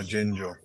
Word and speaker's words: ajenjo: Argino? Arginjo? Yeah, ajenjo.